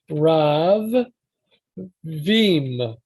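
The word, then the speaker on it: רבים: you have rav so rav veem ravine from uh veeam but it's only written in the text it's only written as a single b but the pronunciation implies that there are two b's um yeah so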